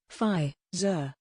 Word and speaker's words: Pfizer: the first place to officially report coronavirus cases pfizer phi zur the american pharmaceutical company which announced a successful